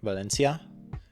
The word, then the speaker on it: Valencia: I'd pronounce it like Valencia um but apparently in Spain it's more like a like the C is more like a th as opposed to like